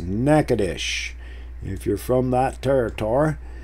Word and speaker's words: Natchitoches: Ritter and Natchitoches, or Natchitoches, as they say. And there it is. Speak of the devil, Natchitoches. See, but that's pronounced Natchitoches if you're from that territory.